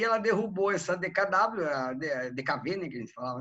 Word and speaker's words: DKW: de vmag produzia o dkv né se você nunca ouviu falar essa coisa Coloca aí pro é DK a gente fala dkv mas se escreve DKW Coloca aí DKW no